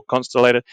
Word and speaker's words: Consolidated: Corps, or the USAAC, for consolidated or constellated, whatever one you want, I pronounce it consolidated, to produce the B-17 under license.